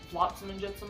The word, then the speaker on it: Flotsam and Jetsam: Flotsam and Jetsam, Flotsam and Jetsam actually is how it's pronounced.